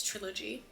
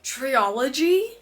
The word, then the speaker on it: trilogy: used to say trilogy, until my mom told me it's trilogy. And I was like, oh my god, that makes so much more sense, because it was always like, why are people saying it wrong? Okay, Sophia. Okay. Triology? I think because it was like duology, so trilogy.